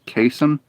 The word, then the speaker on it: chasm: ah get me out pretty sure it's pronounced kasem because some all right i'm confused like casey kasem the guy who voiced shaggy artery nope i don't